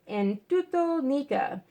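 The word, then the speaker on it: ἐν τούτῳ νίκα: symbol of Christ, and the words in Greek, pronounced en tuto nica, usually rendered in Latin,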